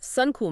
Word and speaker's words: Suncool: Suncool, just like it sounds.